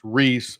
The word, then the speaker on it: Rhys: And it's pronounced Reese, of course.